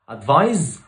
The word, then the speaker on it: advise: advise وادفايس. كلمة advise فعل. advise بتتكتب بالاس بتنطق بالزد وهي اصلا فعل.